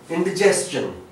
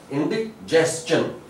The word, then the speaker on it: indigestion: And indigestion, that is also commonly mispronounced word, indigestion. यहाँ पे हमें ये वाला I भी ये वाला भी दोनों वही एक ही आवाज दे रहे हैं, एक ही, like indigestion. And mind one thing, जब